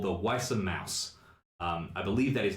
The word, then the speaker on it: Weiße: It is spelt, if you are Weiße curious, W-E-I, the lovely B that is not a B, that is an S sound, unless I'm mistaken.